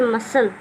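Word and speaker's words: muscle: Next है skin, तो SCLE शब्द के अंत में हो तो सी साइलेंट रहेगा।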